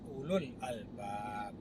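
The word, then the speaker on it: أولو الألباب: Ulu yang berarti ahli itu tidak baca ulul, nggak dibaca u panjang, tapi bacanya ulul albab.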